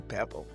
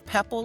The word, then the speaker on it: Pepple: Welcome, Dr. Pebble. Am I pronouncing your name right? Yes, ma'am. It's Pepple like Apple.